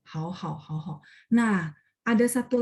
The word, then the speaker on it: 好好: Bacanya hao-nya yang pertama itu nada 3, yang keduanya nada 1 ya.